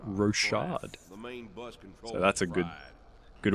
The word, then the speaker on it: Rochard: I've been pronouncing the game wrong it's actually pronounced rosad so that's a good good one to learn